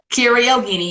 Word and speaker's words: Kiera Yogini: Kiera Yogini, yes. Okay, okay, good, good, good. I've been rehearsing, girl. All right. Okay. Tell us a bit about yourself as a soul. Okay, so I'm Kiera Yogini.